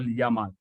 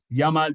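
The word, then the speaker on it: YAML: replica set Services is is what we call Yama Yama is spelled this way why why AML and it's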